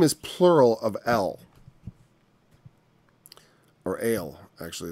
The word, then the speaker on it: El: Because it's like when you go to the, it's pronounced Ale.